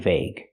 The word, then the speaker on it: vague: So remember, GUE has 3 different pronunciations. Argue, dengue or dengue, and vague. The last one is the most common pronunciation.